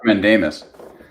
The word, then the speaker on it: mandamus: No, it's pronounced mandamus.